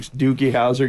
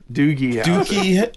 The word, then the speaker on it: Doogie Howser: Dookie Howser getting his throat cut?